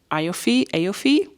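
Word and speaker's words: Aoife: written like this, and my mind is always saying Aofi, but I think it's just called like Eva.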